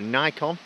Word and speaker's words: Nikon: flipping AK so it's an icon or a nikon and depending on how you want to pronounce it yeah the Nikon